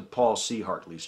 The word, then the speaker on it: Paul C. Hartley: shout out was to Paul C. Hartley. I mispronounced it. I said Paul Chartley, which a lot of people were kind enough to point out was a really stupid thing to say.